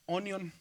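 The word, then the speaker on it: αἰών: o aonon, como en el caso del canto que les voy a enseñar, ayon. Pero en griego se dice onion, como si fuera cebolla, ¿verdad?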